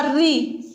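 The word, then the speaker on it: ऋ: री का जब उच्चारण करते हैं, री का उच्चारण करते समय हमारी जो जीभ है कैसी हो जाती है? लुट सी जाती है, री होती या नहीं, कैसी होती है, लुट सी जाती है, कंपन होता है जीभ में, री, इसीलिए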